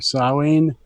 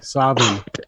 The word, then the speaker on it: Samhain: So for me, Sam Hain is either Samhain or Samhain or Savin. So Yeah, my so friend, it's my friend it's Joanne told me it was pronounced Samhain.